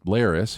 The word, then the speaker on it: Larys: All we have here is Larys, who I think we only like because his name rhymes with Varys, and a selection of blank faces that the show has given little to no personality.